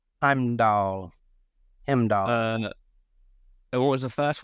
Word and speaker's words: Heimdall: It's Heimdall.